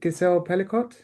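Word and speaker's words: Gisèle Pelicot: Um is it Gazelle Pelicott?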